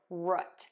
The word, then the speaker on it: root: You can pronounce it root, like as in foot, root, foot.